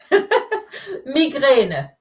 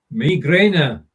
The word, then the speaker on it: Migräne: Migräne. Migräne. Migräne. Yes. Easy to recognize what it means in English. Pronunciation is a bit different.